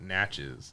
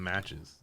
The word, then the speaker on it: Natchez: tree and i uh in mississippi they call it natchez and i was like okay is it not natchez like no it rhymes with matches okay i was like